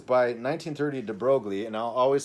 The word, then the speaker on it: de Broglie: And I might not always say de Broglie instead of de Broglie, or that was my French pronunciation of his French name, de Broglie. But I'll say de Broglie, and do everybody knowing that Americans would speak it that way.